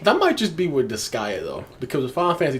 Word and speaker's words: Disgaea: Is it pronounced Disgaea? Disgaea, yeah.